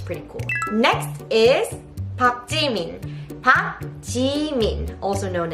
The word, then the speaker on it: Park: And this Park, it is pronounced as Park, but when you write in romanization, we write it as Park, and I know it's nonsense. It's never pronounced as Park. It's not Park Jimin, it's Park Jimin, so keep that in mind.